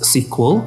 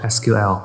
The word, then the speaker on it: SQL: introduction of SQL okay most of the student like to pronounce it as sequel okay please don't do that okay because sequel is the previous version of SQL okay sequel a sequel SQL is SQL okay structured query language